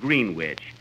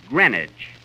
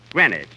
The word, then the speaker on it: Greenwich: yesterday in Greenwich Village uh Kenny that's not Greenwich you see here in New York it's pronounced Greenwich Greenwich see who did you go with Johnny Quinn